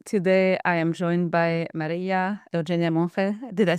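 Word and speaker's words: María Monge: Today I am joined by Maria Mon. Did I say that correctly? Can you please say your name so that everybody pronounce it? Yeah. Softer. The G sounds softer. It's Maria Mon.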